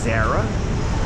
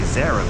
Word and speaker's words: Zara: Is it Zarah? Well, you will hear people say Zarah, but you'll hear more people say Zara.